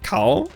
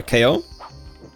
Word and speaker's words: Kao: yeah um fun fact developers accept both uh both well um pronunciations of cow it can be either cow or KO although they they they